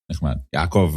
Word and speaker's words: Yakov: Yakov is like Jacob.